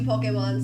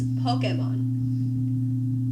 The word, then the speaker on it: Pokémon: Now, for a little bit of context, I have not been into Pokemon since I was in elementary school, and, well, now I'm a teenager.